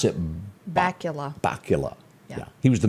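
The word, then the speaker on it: Bakula: And then Scott, do you pronounce it? Bacula.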